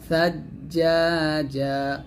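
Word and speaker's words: ثجاجا: করবেন মিনালরাতিমা সাজ্জাজা সাজ্জাজা দেখুন সা এবং জিম্বার মাখসটা একটু দেখেন সা যখন উচ্চারণ করবেন জিহ্বাটা উপরে দাঁতের আগে লাগিয়ে সাটা উচ্চারণ করতে হবে সাবধান যেন জিহ্বাটা নিচে দাঁতে না লাগে ছা উচ্চারণ করার সময়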